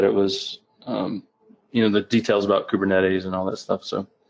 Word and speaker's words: Kubernetes: And what that was, basically this threat actor was brute forcing, how do you pronounce it, Kubernetes? Kubernetes is how you pronounce it.